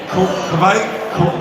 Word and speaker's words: Kveik: And people pronounce it Kveik, quick, all kinds of different ways.